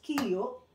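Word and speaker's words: 기역: So, ang tawag dito is kiyo, niyun.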